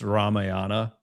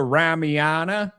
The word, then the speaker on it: Ramayana: I was once corrected on how to pronounce Ramayana by an Indian guy, right? I go, "Yeah, buddy. I've I've read books from from your old your country, your home country. I've read the Ramana. And he goes, Ramayan. I'm like, what? I'm like, what's the A on the N for then, buddy? You do not pronounce it.